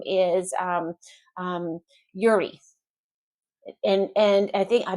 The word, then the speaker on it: Yuri: put I think in in Russian you pronounce the second syllable of a name. So Yuri, but we we English speakers and a lot of the world would say Yuri.